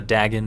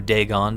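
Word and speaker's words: Dagon: to your liking so we've got uh Dagen or Deon depending on how you want to pronounce it which is a little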